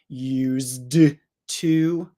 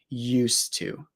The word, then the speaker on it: used to: And I want you to notice that used to, you don't need to pronounce the D. You don't need to say used to, because when we have